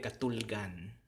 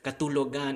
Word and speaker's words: katulgan: Again, just delete the O and you get katulgan. Katulgan. Okay, katulgan. It has to have that conversational flow, because if we kept it as katulogan, it's just too many syllables. So that last vowel, again, it's that rule, that last vowel of the word has to get, or the root word has to be deleted.